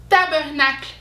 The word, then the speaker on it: tabarnak: dans la rue etc tabarnak tabernacle mais les québécois et le prononce tabarnak tabarnak alors on peut un